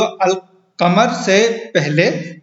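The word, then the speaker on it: القمر: अल कमर जो अल कमर से पहले जो लाम आएगा वो नातिक होगा, यानी उसे पढ़ा जाएगा।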